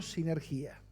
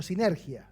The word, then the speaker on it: sinergia: Es la palabra que la deriva en nuestro término moderno sinergía o sinergia sería porque no tiene acento en la i, ¿no?